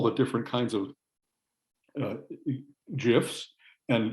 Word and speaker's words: GIF: you know i know i say gif but i said jiff because the guy just died and so i gave him jiff because he insisted was jeff even though it's a hard g in traffic yeah but anyway well